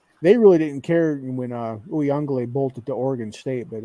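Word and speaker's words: Uiagalelei: They call him by his actual name pronunciation. Uyunglele. Uyunglele. Yeah, that's what they were saying. Quite a few too many syllables.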